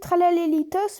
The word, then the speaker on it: Tralaléritos: Alors ça se dit Tralalélitos, mais comme je l'ai dit dans mon dernière vidéo, ça se dit Tralalé, ça s'écrit Tralaléritos.